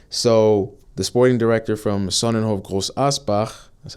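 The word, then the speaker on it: Sonnenhof Großaspach: So the sporting director from Sonnenhof Groß Asbach, that's how you say it.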